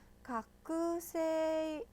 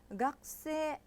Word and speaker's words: 学生: 근데 학생 발음을요. 제가 다시 한번 해보도록 하겠습니다. 학생 아니죠. 이렇게 안 했죠. 다시 발음하겠습니다. 잘 보세요. 학생, 학생 그 발음이 잘 들렸나요? 거의 안 들리죠. 그쵸?